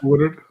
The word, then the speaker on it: Woodard: back Lynette Lynette uh uh sorry can you pronounce that name for me Woodard Lynette w w Woodard Woodard um she owns